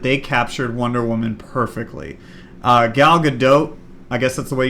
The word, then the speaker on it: Gal Gadot: No, it's like Gal Gadot, it's kind of an oat, it's French.